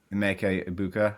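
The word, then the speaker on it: Emeka Egbuka: I always butcher his name, but Emeka Ibuka, I think that's how you say it.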